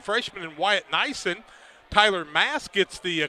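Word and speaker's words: Maas: somewhere that spell it like that, but all of them I've seen with M-A-A-S is Mass.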